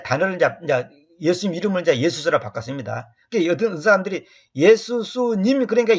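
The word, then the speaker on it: Ἰησοῦς: 그때 예수님께서 내가 여기서는 이제 예수 쓰면 원래 이제 예수라는 이 단어가 영어로는 지저스 그잖아요. 이건 지저스는 제우스순하고 니꼬를 시켜서 중간에 마귀가 이 발음을 바꿔놨어요. 킹지 역자들이 번역할 때는 예수스예요.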